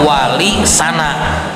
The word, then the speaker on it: Wali Sana: serupa dengan kata terpuji, sehingga menurutnya pengucapan yang benar adalah wali sana yang berarti wali-wali yang terpuji.